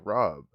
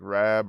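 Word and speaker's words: Raab: what's what's the uk's foreign secretary's name dominic robb r-a-a-b dominic rabb rob they might even just pronounce that rab over there i don't know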